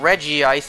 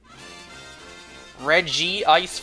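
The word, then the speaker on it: Regice: or what what about Reggie ice and reg ice I say Reggie ice anime pronounced it both ways so technically both are correct reg G ice for sure re ice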